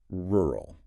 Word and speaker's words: rural: Following that we have rural pronounced ru. And we must acknowledge the difficulty here of the two consecutive R sounds. That poses a significant articulation challenge for many non-native speakers.